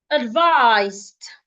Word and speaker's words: advised: Advised. Advised. The ed sounds like a T.